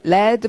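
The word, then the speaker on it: lead: 내면 corion of the lad pling 자 리드가 아니라 레 레의 뜻은 납 납 그다음 밍은 벨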